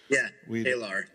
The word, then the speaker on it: Taylor: Apparently, the announcer was saying her name right, and we'd Talar. Yeah, Talar, and we'd been saying her name wrong the whole time.